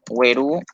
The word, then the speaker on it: güerú: Bueno, güerú, esta sería el acento tónico, porque esta palabra en su forma original no tiene tilde, güerú. Pronunciamos la última vocal con mayor fuerza de voz, güerú.